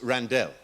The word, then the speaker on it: Randell: My name is pronounced Randell.